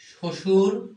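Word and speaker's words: শ্বশুর: বফলা কি বলব বফলা বফলা যদি শব্দের সুচ ব্যবহার করা হয় যেমন দেখো তক শশুর এটা শব্দের সূচ ব্যবহার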